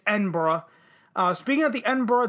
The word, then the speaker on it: Edinburgh: tv festival and yes that is how you pronounce it it's not edinburgh it's edinburgh uh speaking of the edinburgh tv festival bbc's